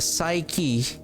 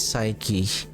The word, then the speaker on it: psyche: It is the psyche. And yesterday, I want to correct myself. I kept pronouncing psych. The pronunciation of this is psyche. I keep on saying psych yesterday.